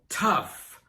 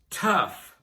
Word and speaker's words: tough: And the GH is pronounced like an F. So tough, tough.